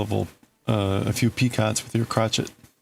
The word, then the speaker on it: picot: a hell of a uh a few peacots with your crotchet. The T is silent like crotchet.